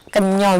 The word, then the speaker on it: Kenya: Kan ini kalau ditulis dalam bahasa Indonesia itu Kenya, ya kan? Tapi kita membacanya Kenyo gitu ya Pak ya.